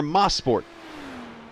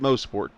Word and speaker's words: Mosport: And then after that, we go up north to, depending on where you like to pronounce it, it's either Mosport or Mosport. I pronounce it Mosport. I've heard them both ways, but Ron Fellows run track up there, Canadian Tire Motorsports Park.